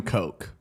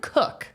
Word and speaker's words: Koch: um k-o-c-h Matt k-o-c-h how do you think that last name is pronounced I would assume Coke you would assume but you assumed wrong it's actually cook oh weird it doesn't